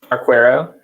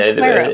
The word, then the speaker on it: Arquero: And also Arquero, how do you pronounce it, Mike? Arquero. Yeah, Arquero.